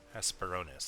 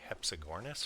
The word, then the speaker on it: Hesperornis: Hesperornis, that's what it's called. I always call it, I pronounce so many things wrong in Ark. Like that one I always call a Hepsigornis for some reason.